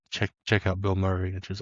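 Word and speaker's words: Bilmuri: Uh, the big one that we have talked about is there's a band called Bill Murray. Uh, it's spelled b i l m u r i and they did like a weird like country and metal album.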